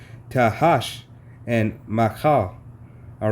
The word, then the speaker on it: Tahash: tabon and and Gamma and gam Han and Tasha and Slovakia mispronounced his name tahash and Maha all right hey these are just